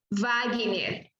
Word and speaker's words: Wagner: Aqui, esta palavra, a pronúncia vai ser como Wagner, Vilma e Carla.